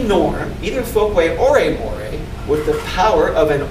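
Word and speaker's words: mores: Look, more serious is a serious norm called a moray. Moray. I know it's written like more, but if it's a norm, it's pronounced more.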